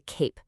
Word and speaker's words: cape: Look at cap. That's our classic CBC word with the short A sound. But add that silent E to the end and the A suddenly says its name, turning the word into cape.